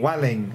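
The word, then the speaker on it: Vueling: it's a coach share flight between ba and Welling even though it reads fueling it is pronounced Welling oh my God ba Club Europe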